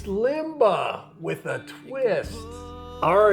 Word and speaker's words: Limber: what are we making Limba limber you said it was Limba is it Limba or limber I don't know somebody told us we were saying it wrong yeah it is it's